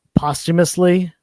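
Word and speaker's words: posthumously: Ed Pisker's family put it out, you know, uh postumously. that's how you pronounce the word, Jeff, just so you know in the future.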